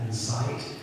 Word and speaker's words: NCEIT: We pronounce that Incite.